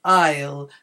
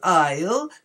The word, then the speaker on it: isle: airplane that's the aisle in all three of these words Island Isle and Isle the S is not pronounced so that's something very